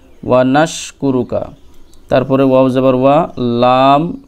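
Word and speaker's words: نشكرك: এই সিনটা উচ্চারণ করবেন জিহ্বার মধ্যভাগ তার বরাবর উপরের তালুতে লাগিয়ে ওকে জিহ্বার মধ্যভাগ সোজা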